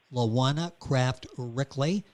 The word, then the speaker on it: LaJuana Craft Ryckeley: rising under the ashes the new book by lawana kraft rickley i'm gonna spell that for you that's l-a-j-u-a-n-a kraft c r